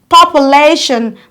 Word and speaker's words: population: let's look up here we have the word population population the syllable receiving the loudest stress is lay you are counted from the ending one two the syllable is lay so you go population emphasize on delay make it a lot longer and clearer than other syllables of the word now the second example